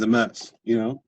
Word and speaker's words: Amess: Now, if you say a mess, enough, it starts to sound like MS.